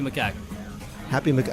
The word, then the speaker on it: macaque: Happy macaque. How do you pronounce it? Happy macaque.